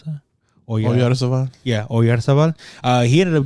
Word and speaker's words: Oyarzabal: You know how to pronounce that? Oyarzabal.